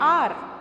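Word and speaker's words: hour: For example N आर. Now you can see that H is not a vowel, but when we pronounce R, it sounds like a vowel.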